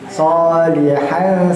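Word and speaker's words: صالحاً: Sholihan samar-samar, betul sekali. Jadi bukan sholihan ne-nya nempel bukan, tapi ngambang. Lidah kita tuh jadi ngambang gitu. Sholihan 2 harokat juga ya. Dia dibacanya 2 harokat. Terus tidak dengung karena dia termasuk ikhfa.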